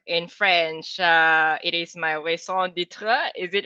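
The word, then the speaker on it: raison d'être: my ikigai or in french it is my song ditra is it right that i pronounce it right um yes so uh i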